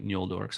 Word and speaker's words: Noldor: vanyar and the noldor it's actually i think it's pronounced more like mule dorks i always see the end with the tilde over it um but vanyar and yoldor